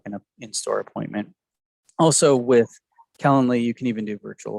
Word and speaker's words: Calendly: you spell that it's it's like calendar but with an ly so calendly c-a-l-e-n-e-l-y okay yeah really